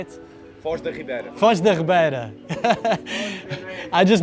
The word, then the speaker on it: Foz da Ribeira: If you watched our last video, you know we were here at Faial de Ribeira de Foz. Is that how you say it? Foz da Ribeira.